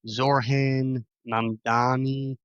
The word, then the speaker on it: Zohran Mamdani: believe, the Democratic primary in New York City, Zohran Mamdani, I believe is how you pronounce his name.